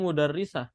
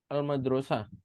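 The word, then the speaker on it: المدرسة: Al madrasah ini kalau nggak ada harokat, antum bisa saja membacanya mudarrisah. Iya kan, kalau tidak ada harokat. Tapi antum harus ngelihat secara makna ya. Masa saya pergi ke guru perempuan, kan nggak cocok. Kalau yang namanya saya pergi harusnya ke tempat. Maka meskipun tidak ada harokat, cara bacanya harus al-madrosah.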